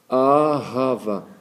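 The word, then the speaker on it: אהבה: ça a ha Va a rava, il faut prononcer le ha ra, il y a un petit souffle là.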